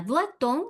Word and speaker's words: doit-on: Doit-on, ahí ligamos esa T que no se pronunciaba, pero le sigue vocal. Entonces decimos doit-on suivre.